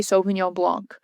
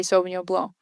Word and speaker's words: Sauvignon Blanc: You're supposed to say Sauvignon Blanc. You're not supposed to say the C, but there is a C there.